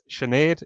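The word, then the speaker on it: Sinéad: I think pre 90s not many people knew how to pronounce this name um CAD is it it gets butchered a few times when call into the office this is our head of reservations it's chenet is the the name you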